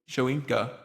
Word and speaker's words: Shoyinka: I'm going to mispronounce this name a lot, but I think it's pronounced Shoyinka.